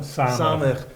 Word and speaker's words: samech: How do you pronounce it? Samech.